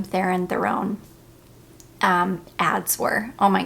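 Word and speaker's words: Charlize Theron: this perfume was and how iconic the Charlie's theen that's how you say her name theen Theon um ads were oh my gosh so anyways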